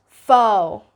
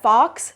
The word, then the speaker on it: faux: Moving on, we got faux. Faux. This is F-A-U-X, so you're not going to be pronouncing it as faux or with that A-U diphthong. No, it's just faux. Faux. Don't pronounce it as fox.